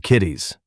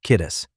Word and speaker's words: Kittis: Kitties, the man says. Uh, no, no, no, sir. It's kittis. The second syllable rhymes with kiss.